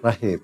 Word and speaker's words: Rachim: Kang Deddy Rahim ya? Rahim. Rahim. Ya. Yang pakai C itu siapa yang nulis ya? Enggak, memang pakai C. Oh, ada pakai C. ya. Tapi bacanya? Rahim. Oh, Rahim.